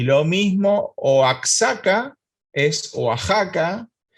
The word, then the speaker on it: Oaxaca: mismo oax acá es oaxaca y lo mismo texas es tejas y lo mismo todas las cosas que tengan equis y se pueden pronunciar como j por ejemplo una palabra